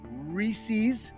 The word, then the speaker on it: Reese's: beloved brands under its umbrella company like Reese's.